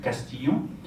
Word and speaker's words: Castillon: Then the other one is the Castillon. The double L is actually the Y sound, the ear sound. Castillon.